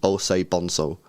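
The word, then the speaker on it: Osei-Bonsu: yes, with the 5, he says, don't be scared of my last name, LB. It's pronounced Osei Bonso. Osei Bonso, okay.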